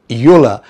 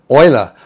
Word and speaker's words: Euler: It's not pronounced Yola, but Ola. Obviously this name is derived from the 18th century Swiss mathematician by the name of Leonard Oiler and he was just not a mathematician.